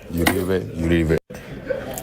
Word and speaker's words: Uribe: Let's go to Abner or Abner himself to explain how to pronounce his name. Oh. Abner, Uribe. How do you say Uribe? Abner, Uribe. Uribe.